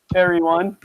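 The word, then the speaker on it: Eryone: How do you guys pronounce that? ERY. Airy one.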